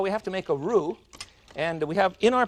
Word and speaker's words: roux: We'll make a basic roux. It's spelled R-O-U-X. In Dallas, they call it a rux, I'm afraid.